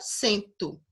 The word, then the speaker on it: cento: um vou dizer 101 Porque a partir do sem a pronúncia muda para a palavra cento certo pela 101 e